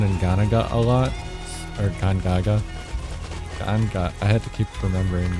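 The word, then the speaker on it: Gongaga: really fight around in Ghana a lot or Gaga ganga I had to keep remembering that's actually how you pronounce it so it's kind of easy to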